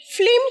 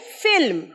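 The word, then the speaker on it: film: is your favourite ফিল্ম ফিল্ম কিন্তু ভুল উচ্চারণ স্পেলিংটা এফ আই এল এম তাই ফিল্ম ল টা পরে ফিল্ম বল মনু একবার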